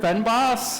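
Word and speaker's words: fynbos: restrain myself from saying the word fenbos I think that's how it's pronounced somewhat and so I know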